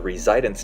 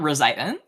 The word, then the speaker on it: residence: And for Lake Titicaca, the residence time is around 1,343 years. Okay. Not even That's That's pronounced residence, not resident.